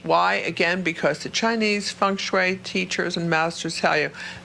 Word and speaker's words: feng shui: Even though it's spelled F-E-N-G-S-H-U-I, it's feng shui, okay?